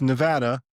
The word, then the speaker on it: Nevada: like, "However you thought you said this, it's Nevada and that's it."